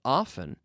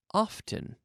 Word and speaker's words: often: Now, there are two ways to pronounce this word. We can say often, or we can say often. Often, often, often, often, often. You can choose either pronunciation.